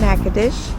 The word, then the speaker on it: Natchitoches: Okay, I'm in Nack-a-Tish and I'm on Front Street. Yes, I'm learning how to say the name of the town.